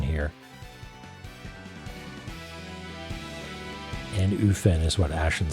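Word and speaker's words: Annwfn: F is the V like valley. The W uh is a vowel like oo. Okay. So an uven anuven sort of thing.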